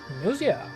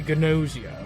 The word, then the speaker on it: Gnosia: Today we are playing Nosia. Uh, I think that's how you pronounce it. I mean, silent G's are always kind of I mean, it could be Gnosia, but I don't think so.